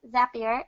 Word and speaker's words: Zapier: the bat it's pronounced zapier is in staff here makes you happier not as a peer